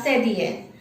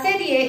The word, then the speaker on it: cédille: So the last accent mark is la sedie. La sedie is the only accent mark that is used on a consonant C.